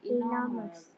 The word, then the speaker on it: enormous: Enormous. Enormous. Okay, now Thùy Trang say again. Enormous. No. Bạn sai nhé. Mình i, cái âm này, cái âm đầu tiên âm i, i. Enormous. I. Enormous. Okay.